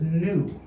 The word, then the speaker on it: nu: wasn't a big problem the next letter is new they skipped that letter because it sounds just like the word new in ew so they didn't have a